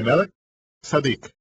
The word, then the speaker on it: Melquisedec: según el orden de Melquisedec o como se debe pronunciar de Mel sadik melek Rey Sad justicia el orden sacerdotal del rey justo